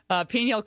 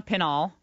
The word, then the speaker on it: Pinal: Babu is the uh Pinel County uh sheriff in Arizona Pinal I always mispronounce it and we're delighted he's